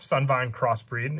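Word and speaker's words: Sunvine Cross Breed: cross bread or crossbreed sun vine crossbreed is how you pronounce it you tribute one link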